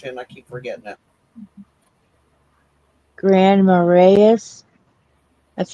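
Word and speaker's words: Marais: Grand Maras, that's how I would pronounce that, right? Marray, that was close.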